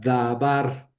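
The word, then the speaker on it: דָּבָר: Pero aquí tenemos una sílaba cerrada que tiene vocal larga y eso sucede cuando ahí recae el acento, ¿verdad?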